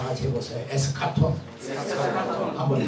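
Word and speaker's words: ἔσχατον: 에스카톤. 여러분 헬라 안 하지만 오늘 헬라 하나 배웁시다. 다 같이 해보세요. 에스카톤.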